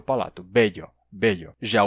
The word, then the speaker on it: bello: Bello. Você segura o L por mais tempo. Bello.